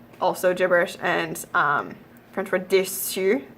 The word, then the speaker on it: déçu: gibberish, and French for déçu, it's French for disappointed, and without the cedilla it would be mispronounced as décu, also not a word.